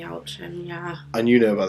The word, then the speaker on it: Yelchin: I'm hoping that's how you pronounce his Anton name. Yelchin, yeah.